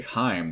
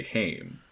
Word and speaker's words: Heimdall: of their pronunciation guide they don't say Heim they say hame like and I'm not even entirely sure where they got that distinction from but that is how they say it in that pronunciation guide I